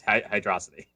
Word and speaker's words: Hydrocity: yeah maybe that's it because it is one word so maybe it is hydroxide yeah hydra it's just like megamind it's hydrocity okay another question by